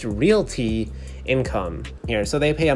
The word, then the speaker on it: Realty Income: paying dividend company and it's not reality income as a lot of people commonly say but it's actually pronounced realty income here so they pay